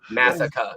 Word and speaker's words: Massaka: Here in New England, we don't pronounce our R's, so we wouldn't say massacre. We would say massacre. That is another piece to that. Yes, you are absolutely correct. Massaka.